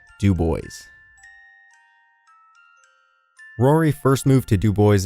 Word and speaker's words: Dubois: But, in quiet protest, the town rejected the correct French pronunciation of Dubois and instead referred to the town with the stubbornly anglicized Dubois.